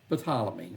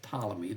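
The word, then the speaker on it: Ptolemy: First of all, there's Balamy or really it's Talammy. The P is silent and he's going to rule over Egypt and even Israel for a while.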